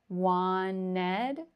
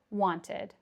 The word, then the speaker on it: wanted: We would drop the T altogether. Wanted, wanted, you could pronounce it. Or, I probably would pronounce the T, wanted. A very soft T, wanted, wanted.